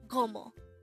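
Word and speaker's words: 고모: as a two-syllable word the first syllable is go and the second syllable is mo again imo is your mother sister and gomo is your father's sister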